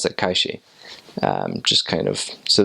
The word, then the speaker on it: calle: a y syllable um you would pronounce that with a sh like a sh sound instead of a like a y sound like they do in